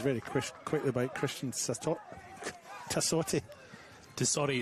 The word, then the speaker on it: Tassotti: Tassotti, it's not that hard, David.